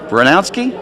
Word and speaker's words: Bryniarski: And I hope I pronounce his name right. Is Andrew Bryniarski? It's good.